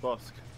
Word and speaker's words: Bossk: It's just Bosk. Or Bosk. The K is silent.